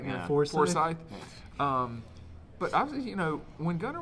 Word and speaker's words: Forsyth: Forsyth.